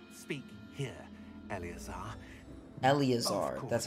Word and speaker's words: Eleazar: okay I got you Tina not speak here Eleazar that's how you say his name why don't